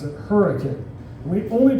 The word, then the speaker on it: Hurricane: We have a city in southern Utah spelled hurricane, but we pronounce it hurricane.